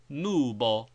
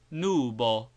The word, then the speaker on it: nubo: U, like double O in boot, as nubo, nubo, and never as U in mute or but.